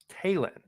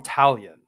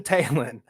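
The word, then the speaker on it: Taillon: they pitch Jameson tailon Talen always had an issue pronouncing that so I made a note I always want to call him talion or t Tayon like he's like I don't know what would that be French or something taen Jameson Talen he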